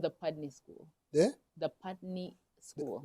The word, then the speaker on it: Putney: know yes so the school is called the pudney school and it's in pudney Vermont wow wonderful excellent so from there you